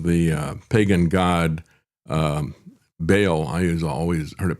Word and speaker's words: Baal: uh pagan god um Baal. I always heard it pronounced that way growing up, but um because frequently mentioned in the Bible, but a lot of people pronounce it ball.